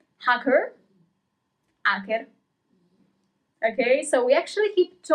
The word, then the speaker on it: hacker: We don't pronounce the letter H. Hacker, hacker.